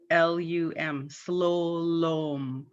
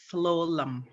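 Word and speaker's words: slulum: The U's are pronounced as O, and it's spelt with two U's, S-L-U-L-U-M, slowlom. But everybody pronounces it slowlum.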